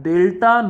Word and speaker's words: delta: before a physical quantity, we will pronounce this symbol as delta, not triangle.